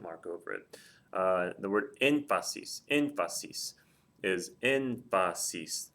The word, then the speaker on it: énfasis: The word énfasis. Énfasis is énfasis. It's 3 syllables. The stress is over the E, which is the third or more back. There's going to be a written accent mark there.